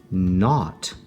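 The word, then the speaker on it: knot: If I add the K N in front, K silent, and we get the word not.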